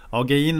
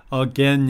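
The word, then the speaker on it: again: 마신 분들이 가끔 있거든요 어게인 아니고요 어깨는 입니다 그냥 개인 일부러 따로 만들 필요 없어요 어깨엔 어께에 n2 거고 이것도 마찬가지로 어게인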